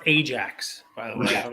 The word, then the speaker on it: Ajax: vintage soccer stickers harder it's pronounced Ajax by the way I